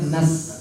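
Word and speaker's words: نَسْتَعِينُ: yang kedua tuh Nas orang sering bilang Nas atau Nas Tapi harusnya nas nas Sin itu e sifatnya tipis jadi kalau kita ibaratkan simpelnya itu kita bilangnya sambil senyum gitu nas nas n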